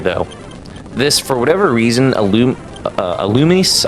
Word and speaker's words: Illumise: But I will say here, though, this, for whatever reason, Illumise, I always pronounce it Illuminese just because I'm not looking at the names.